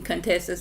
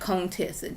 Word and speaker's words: Contessa: hard to pronounce but clearly you've heard the other girls call her Contessa not contestant to me you doing